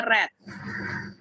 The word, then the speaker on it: read: jadi tuk download lagu hati-hati dengan read ya tulisannya selamat Tapi bacanya Red Velvet berubah jadi tadi